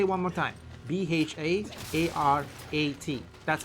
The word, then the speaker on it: Bharat: Bharat. That's how it's spelled.